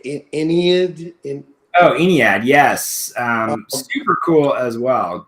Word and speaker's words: Aeneid: Aeneid, yes.